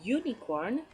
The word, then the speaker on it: unicorn: I can say a unicorn and you for unicorn is in you so the vowel you but as I'm saying the word it looks like I'm saying you so starting with a Y okay and in the